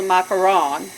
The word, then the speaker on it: macaron: but put this French it's called a macaron so if you ever go to Paris and you go to order some macaron and the bakeshop make sure you say it properly but they might just